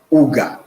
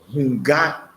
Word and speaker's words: Hunga: And there is no one can be initiated into anything called Uga, because there's nothing called Uga in Ewe Vodu. But there is what is in Ewe Vodu is Hunga.